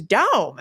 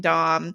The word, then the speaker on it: Daum: who was like oh your name is Dom that's how that should be pronounced you know and they